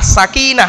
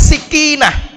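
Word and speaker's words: سَكِينَة: Bacanya sa, pakai fathah, sakinah. Sakinah itu ketenangan, jangan tergesa-gesa. Orang bacanya dikasrohkan sikinah, bukan sakinah, sikin. Sikin itu bahasa Arabnya itu adalah pisau.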